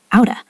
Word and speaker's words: out of: We usually pronounce it out of like uda. Outa.